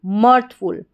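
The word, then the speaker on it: mirthful: तो पूरी स्पेलिंग देखिए, यहाँ पे इसको मिर्थ नहीं पढ़ेंगे क्योंकि IR को हम अर करके पढ़ेंगे तो MIRTH मॉर्थ बन जाएगा, मॉर्थ, और FUL फुल, मर्थफुल, मर्थफुल। नेक्स्ट स्पेलिंग देख लेते हैं।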